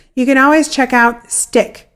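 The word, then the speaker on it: StickK: can always check out stick which is spelled with two K's s-t-i-c-k-k we've talked about this program on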